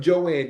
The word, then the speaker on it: Joan: It's spelled Joan, but she calls herself Joanne, Joan.